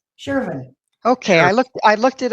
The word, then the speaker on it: Sherven: you said her name wrong. Did I? Well, Yeah. say it right for me. It's All right. Sherven. Sherven. Sherven.